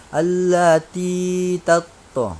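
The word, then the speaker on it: تَطَّلِعُ: Maka allati tatto, jadi allati ta, jangan bacanya allati ta, tapi allati tatto, allati tatto.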